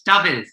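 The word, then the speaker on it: Dafydd: It's Daffydd. Like David. David, TH on the end.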